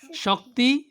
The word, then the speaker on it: শকতি: এরপরে তোমরা ধরো নোট, শকতি পড়তে হবে শকতি, কি হতে হবে? আমরা যদি শক্তি হরি কি হরি? শক্তি পড়তে হবে শকতি, কি হতে হবে?